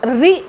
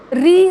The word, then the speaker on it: ऋ: जब कभी ये सारी चीज़ें आप देखिए, रि जो है लोग री री री बोल देते हैं, जबकि ये उत्कृष्ट उच्चारण नहीं है। आप जब भी पढ़ेंगे इसको रि पढ़ेंगे, रि।